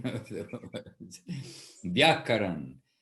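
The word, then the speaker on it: व्याकरण: Vyakaran. So don't come to me for pronunciation of the words. Vyakaran. And even that VY, Bapi, in Bengali and in Sanskrit, it will come out a little different.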